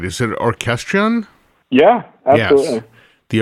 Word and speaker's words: Orchestrion: Is it Orchestrion? Yeah, absolutely. Yes. The Orchestrion, which was the big physical robotic band that Pat Metheny toured with for a while.